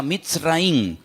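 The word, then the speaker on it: מצרים: país de Egipto, que en la Biblia se pronuncia Mitzraim.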